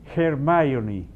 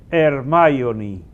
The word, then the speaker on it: Hermione: Entonces, la gente lo está solucionando poniendo la pronunciación inglesa, que es más o menos Hermione. Y la gente le pone Hermione, así castellanizado.